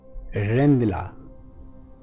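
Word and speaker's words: Rijndael: AES is Advanced Encryption Standard, and this is, its original name was Dutch pronunciation Rendila.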